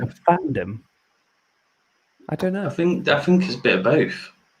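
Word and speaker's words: FanDome: Is it Fandom or is it Fandom? They say it's Fandom, but it's spelt dome.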